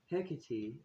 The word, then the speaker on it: Hecate: Hecate also goes by many other pronunciations and spellings of her name depending on where she's traveled all over the world hekitty is Roman and a few others